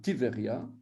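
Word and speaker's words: טבריה: va avoir un chez va parce qu'on ne prononce même pas le petit on va pas dire type béria va thibérien ti ver ya un type verrerie ya donc ici on va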